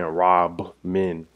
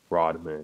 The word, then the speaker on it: Rodman: Rodman. I think he probably meant Rob Man. But just say you Rod Man.